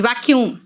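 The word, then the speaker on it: vacuum: तीन वर्ड्स सा वैक्यूम देखो उसका प्रोनंसिएशन क्या है इट्स वैक्यूम वैक्यूम क्या है जैसे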